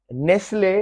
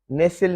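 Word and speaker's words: Nestlé: नेसिल, नेसिल, इसमें T silent है। हाँ अलबत्ता ये जो ब्रांड है नेस्ले, तो उसका उच्चार थोड़ा सा डिफरेंट हो जाएगा, नेसिल नहीं, उसको फिर नेस्ले कहेंगे।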